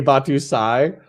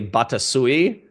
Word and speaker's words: Batusai: His name's AKA Batusai, but for the first like 6 months that I knew him, I called him AKA Batasui. And it drove him fucking crazy. But I kept mispronouncing it for like months after he had corrected me. And so you calling him Batusi is even fucking worse.